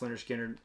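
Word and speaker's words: Lynyrd Skynyrd: Speaking of Analog Productions, I don't know if I showed this, but this pronounced Leonard Skinner.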